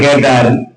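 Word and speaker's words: cat: சிஏடி சேட்டு கிடையாது, யாரு? கேட். அது சிக்கு என்ன உச்சரிப்பு இருக்கு? கே உச்சரிப்பு இருக்கு.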